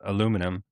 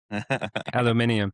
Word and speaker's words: aluminium: I would say that was all just an excuse to have you say uh aluminum. The Brits say it's so much nicer aluminium.